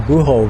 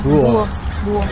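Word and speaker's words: búho: Right, the buho, right? The buho. Buho. Yeah, the H is silent in Spanish. Oh, that's funny because I've always been saying buho, but it's buho.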